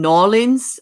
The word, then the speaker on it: New Orleans: They have a store in Nolens.